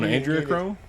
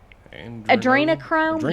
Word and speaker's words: Adrenochrome: The celebs are low on androchrome. Yes. And I can't pronounce it. Androchrome. Adrenochrome?